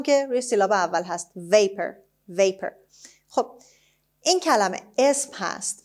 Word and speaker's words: vapor: اولین کلمه درس امروز vapor هست. Vapor. خب همونطور که میبینید باز او آر آخر به شکل شوا تلفظ میشه.